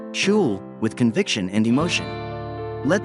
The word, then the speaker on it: SCHL: Say SCHL, pronounced as shul, with conviction and emotion.